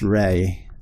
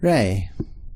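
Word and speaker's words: 零: 0 in katakana but there is a Chinese character for this a kanji for this it's pronounced ray that's basically is just do that last part of it better ray so ray I'm not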